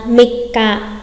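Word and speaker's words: 三日: À, mikka, mikka.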